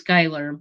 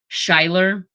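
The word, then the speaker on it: Schuyler: kid whose uh name first name was Skyler, but he his parents spelled it using the Dutch spelling. And as a result, almost every time we started school, the teachers uh first time in pronouncing it would always end up pronouncing it um Shiler.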